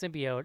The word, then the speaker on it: symbiote: The word is pronounced symbiote, and they say it the way Casey just said it in the trailer, and people like lost their mind.